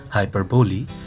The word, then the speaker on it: hyperbole: In this video, I am going to tell you about hyperbole, euphemism and transferred epithet. What is hyperbole? Remember, the pronunciation is hyperbole, not hyperbole.